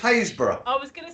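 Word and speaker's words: Happisburgh: not the franchise bug no it's not it's pronounced haysbrough i was going to say i was going to say um hasbro i know it's trunant haysbrough hey they've got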